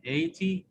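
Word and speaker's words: eighty: Remember, students, in 80, GH is silent. Because if we have I before G and H become silent.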